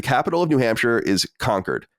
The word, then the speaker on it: Concord: Granite State roots and start pronouncing it correctly as conquered and not Concord or we have your